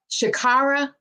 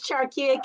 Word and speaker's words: Charkia: It's Charkia. Good morning. Well, good afternoon. Shakira, I butchered that. I apologize. Shakira. Charkia. Got it. Do you have a nickname? They call me, but it's Charkia. Charkia. It's with Charles.